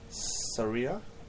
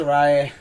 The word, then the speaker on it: Saraya: Saria? Is that a name? I can't pronounce it, that's why I'm going, is it Saria, is it this? I can't pronounce it. Saraya.